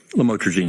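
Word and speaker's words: lamotrigine: Did I pronounce that right? Lamotraine.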